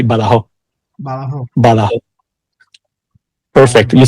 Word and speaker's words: Badajoz: Well, it will be if you pronounce it like we do here. Like we pronounce it in a way that's gonna be easier for you. We say Badajoz.